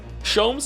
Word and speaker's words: Shoms: Shoms is pronounced the same as Joms.